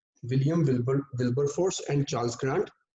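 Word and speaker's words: Wilberforce: मैंने नाम की स्पेलिंग लिख दी यहाँ पे, William Wilbur फोर्स, WIL will, BER बर, FORCE विलियम विल्बर फोर्स, और दूसरा नाम है चार्ल्स ग्रांट।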